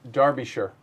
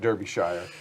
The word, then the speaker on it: Derbyshire: of course okay um pronounced darby sure right derbyshire and yes i i did i did type that up phonetically so i pronounced it right because otherwise i was going to call it derbyshire oh no a cat